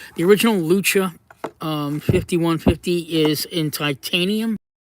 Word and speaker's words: Lucha: not the real but the the original uh Lucia Lucha that's how you pronounce it Lucha the original Lucha um 5150 is in titanium this is the